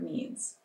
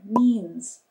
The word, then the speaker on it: means: You can say, I'm not sure what that word means. Remember that I'm is a contraction of I am, and there's a z sound at the end of the word means.